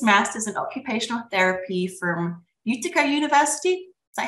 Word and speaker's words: Utica: He received his master's in occupational therapy from Utica University. Is that how you pronounce it?